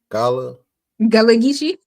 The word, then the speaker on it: Gullah Geechee: How you pronounce that? Gullah? Gullah Geechee.